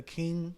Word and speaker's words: Qing: phrase you know saying pronounce King with a Q I can't ever remember I could have been under the influence when it happened but it's King yeah which go you